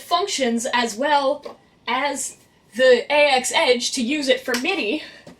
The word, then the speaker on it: AX-Edge: MIDI controller is the AX-Edge. And yes, I did learn that it's actually pronounced AX-Edge, and that I've been saying it wrong for like 2 years now.